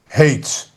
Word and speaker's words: hate: Hate. Now, look, hate. So, you don't pronounce the e, but look, a the vowel changed just like that.